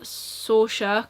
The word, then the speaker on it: Saoirse: I really am enjoying Saoirse, because that's how you say it.